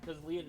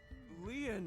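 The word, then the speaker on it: Lien: I think Date is doing this investigation too, but sort of under the record because Leon knows Date.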